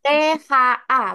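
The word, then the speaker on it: 他: itu mas, THA. Bacanya ta, THA. T bacanya TH. Jadi THA.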